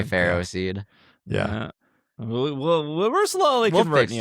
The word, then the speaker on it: Ferroseed: Feroseed, A lot of people call it Feroseed, Feroseed. I say Ferroseed.